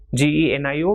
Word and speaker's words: genio: So word like GENIO will be pronounced as genio, and GIRO will be pronounced as hero.